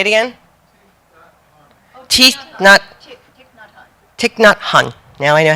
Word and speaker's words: Thich Nhat Hanh: Thich Nhat Hanh.